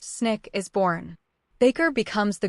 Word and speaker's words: SNCC: Out of that conference, the Student Nonviolent Coordinating Committee, SNCC, pronounced Snick, is born.